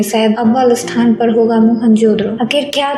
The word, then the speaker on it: मोहनजोदड़ो: दोस्तों, मोहनजोदड़ो शब्द का सही प्रोनाउंसिएशन है मोहनजोदड़ो। ये एक सिंधी भाषा का शब्द होता है जिसका मतलब होता है मुर्दों का टीला।